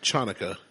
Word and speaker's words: Hanukkah: Or is it Chanukah? It's Hanukkah. The original spelling is Chanukah. Yeah, I don't know the The difference. C is silent.